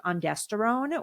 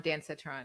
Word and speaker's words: ondansetron: One of the most useful tools, which is I think why I had such a good experience, was I took ondansetron or Zofran before I started my prep.